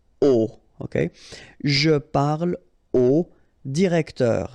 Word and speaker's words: au: Okay, so a plus le will become o, like that. You write it au, you pronounce it o.